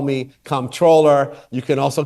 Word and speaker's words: comptroller: Looking at this spelling, listener writes he is not controller, he is comptroller. You know, I'm pretty laissez-faire here. You can call me comptroller, you can call me controller, you can also call me.